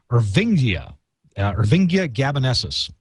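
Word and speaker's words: Irvingia gabonensis: There's another product, another ingredient that is pronounced Ervingia gabanesis.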